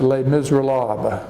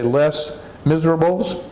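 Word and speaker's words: Les Misérables: English we would say Les Miserables but but that's that's an English pronunciation since it's a French word we would use the French pronunciation late mr.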